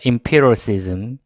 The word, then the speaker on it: empiricism: empiricism. EM P까지 들어가는 거는 emp라고 읽어주시고, 그 다음에 뒤에 또 한 번 더 우리 음악을 생각합니다. 피리, 그렇죠? 피리, 그렇죠?